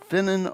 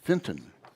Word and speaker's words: Fintan: Did I pronounce that correctly, more or less? Finton. Yeah. Oh, I left out the T.